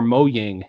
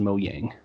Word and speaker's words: Mojang: game minecraft and also it's either Mojang or mowing the how you want to pronounce that but I think it's like the Swedish pronunciation is mo yang so is there a